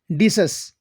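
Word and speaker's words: Decius: ये तीनों साथी काशियस, कास्का और डीसस, इसकी प्रोनाउंसिएशन है डीसस।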